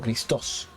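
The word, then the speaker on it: Χριστός: Que en realidad la palabra en el griego se escribe Christos, con una tilde en la O, Christos.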